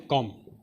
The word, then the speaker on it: comb: जैसे हम ले लेते हैं कॉम, इसमें हम लोग क्या देख रहे हैं, बी जो है किसी भी स्पेलिंग के लास्ट में आ रहा है और